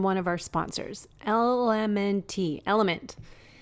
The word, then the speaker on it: LMNT: of our sponsors lmnt element it's spelled lmnt but pronounced element if you haven't heard